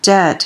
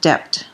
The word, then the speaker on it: debt: and by the way the term debt has the letter B in it and be careful not to pronounce it depth okay so it's a